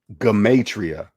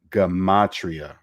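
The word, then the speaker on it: gematria: pronounced the g i i would have never pronounced the hard g gamatria game see i'm still saying it wrong gamatria not gamatria gamatria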